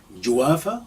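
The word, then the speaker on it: جوافة: well juwalva or guava if you pronounce the gym like a god so joafa or guava next kiwi we have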